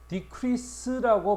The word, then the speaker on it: decrease: decrease라고 발음해야 되겠죠.